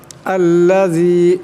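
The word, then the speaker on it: الَّذِي: আল্লাযী এখানে জাল আছে, এই জালের আওয়াজটাকে পাতলা করিয়া পড়তে হবে, নরম করিয়া উচ্চারণ করতে হবে।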